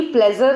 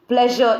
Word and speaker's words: pleasure: ऐसे ही प्लेजर नहीं है बल्कि प्लेजर इज the correct pronunciation.